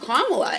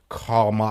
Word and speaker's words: Kamala: Like, bro, because it's like, dog, I'm an American. I'm not gonna pronounce it like an Indian. Kamala. I'm like, Kamala. bro, it's Kamala.